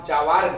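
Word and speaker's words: جوارٍ: Iki ini kitab contohnya lafaz jawarin bukan jiwar bacanya.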